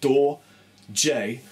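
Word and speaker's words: Dorje: from my band doj d o r j e pronounced door J for the many of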